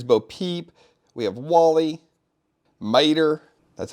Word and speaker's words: Mater: Here's Bo Peep, we have Wally, Mater, that's how you say it, right?